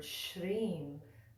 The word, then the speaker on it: Śrīm: so you notice that in the second word shreem there's a little line little diacritical mark over